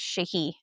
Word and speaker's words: Sidhe: It's spelled Sidhe, but it's pronounced Shahi because I Shahi.